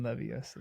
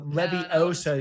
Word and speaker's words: Leviosa: by telling him that he is not stressing the O properly in Leviosa. In the book, which syllable does she correct instead? Wingardium Leviosa.